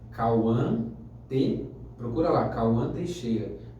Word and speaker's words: Kauhan: Para quem estiver assistindo, o meu Instagram é Cauã procura lá, Cauã Teixeira. O meu nome se escreve Kauhan. Minha mãe foi um pouquinho Eu te entendo. criativa nisso, mas é só colocar lá, Cauã.